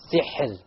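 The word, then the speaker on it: سحر: So, sihr. Sihr. Okay, so the ra is silent. Before it is silent, before it is a kasra, therefore the ra will be light.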